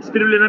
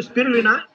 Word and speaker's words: Spirulina: स्पिरुलना भी ठीक है। स्पायरोलीना भी ठीक है। है ना? एक अमेरिकन एसेंट होता है। एक इंग्लिश एसेंट होता है। एक इंडियन एसेंट होता है। तो स्पिरुलना करेक्ट प्रोनाउंसिएशन है।